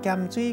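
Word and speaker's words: 鹽水: 台南的地名，读作咸水，提供予大家。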